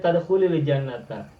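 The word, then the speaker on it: تدخلِ الجنةَ: kita mau wasol boleh bacanya tadkhulil jannata. Jadi tadkhulil sukun ketika bertemu alif lam menjadi kasroh.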